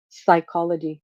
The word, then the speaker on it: psychology: Psychology, you don't say psychology, for example.